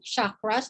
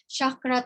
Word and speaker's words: chakra: So we have 7 chakras. There are actually more. Parang may chakra, tapos may mga sub-chakras, but we have, and by the way, pronunciation could either be chakra or chakra. It's up to you.